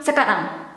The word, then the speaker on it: sekarang: The quick one, sekarang. You pronounce it quick.